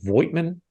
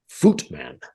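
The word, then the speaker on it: Voigtmann: I believe pronounced it Voigtman. No. The V is sharp like an F, and the I is silent. Something like Footman.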